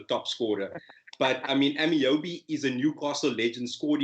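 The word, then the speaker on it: Ameobi: But I mean, Amiobi is a Newcastle legend, scored important goals. He's not a big name, but he's an icon in the Newcastle. He just butchered his name and called him Amibi.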